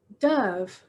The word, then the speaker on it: dove: bird called a dove dove rhymes with love nobody wrote about hamsters